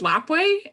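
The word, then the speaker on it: Lapwai: that thank you um it's lapway and it's onomatopoeia for the sound of the flapping wings of butterflies nice thank you well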